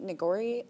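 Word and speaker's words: nigori: today this one is uh called a creamy neori sake is that right that's right do I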